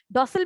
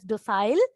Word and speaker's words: docile: Docile means obedience. Mark the pronunciation. Please don't pronounce it as docile.